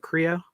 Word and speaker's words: Kreo: Is that how you pronounce it? Kreo?